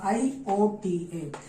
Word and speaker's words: iota: That is iota, I-O-T-A. Iota is the square root of minus 1, and this iota is written as I, but the pronunciation is iota.